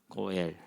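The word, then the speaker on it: גואל: 고엘. 뭐 굳이 여러분은 알 필요는 없는데 이렇게 됐어요. 그래서 이게 고예요. 이거 엘이고, 요거는 묵음이고, 고엘.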